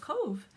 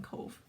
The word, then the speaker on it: Cobh: from a colorway created in the name of Cove and I watched and watched and um haven't